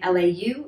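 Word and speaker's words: 劉: which is actually number seven is the surname lau lau and this is pretty similar in cantonese you pronounce it as the low-falling that's the character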